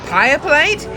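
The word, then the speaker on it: Pieplate: Uh, it's pronounced uh, Pia Plate.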